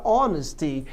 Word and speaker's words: honesty: A palavra honest, por exemplo, pode gerar a palavra honesty, daí o H continua mudo.